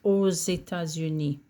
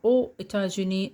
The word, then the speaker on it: aux États-Unis: This one, because États-Unis starts with a vowel, then you have to pronounce the X like a Z. J'habite aux États-Unis. J'habite aux États-Unis.